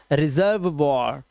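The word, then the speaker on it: reservoir: रेपर्ट वॉर और last का ई silent. रेपर्ट वॉर। This is रिजर्व वॉर।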